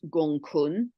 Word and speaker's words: Gonggong: So, also to highlight Gonggong or it's pronounced Gong Gong here at 4° of Pisces.